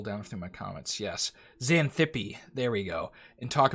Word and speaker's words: Xanthippe: God, how do you pronounce that name? Scroll down through my comments. Yes. Xanthippe.